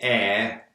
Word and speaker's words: heir: And normally we pronounce the H, but with heir we don't pronounce the H. Certain exceptions, we don't pronounce the H. Heir is one. Honest is another.